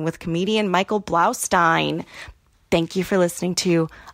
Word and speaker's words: Blaustein: Blaustein.